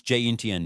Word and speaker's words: 今天: What does ginten pronounce jinten mean?